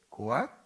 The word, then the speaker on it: 고핫: 게르손, 고핫, 문아리. 그중에 고한 또 그핫이라고도 발음이 발음이 되어서 이제 성경에 기록됩니다. 같은 인물입니다.